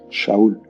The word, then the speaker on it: Shaul: él se llamaba Saúl y se pronuncia Shaul.